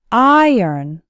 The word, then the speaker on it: iron: net first let's work on the pronunciation the letter i sounds like in the words item write and kn and the second syllable actually sounds like n iron iron has two syllables and the stress is on the first syllable so it sounds like iron say it after me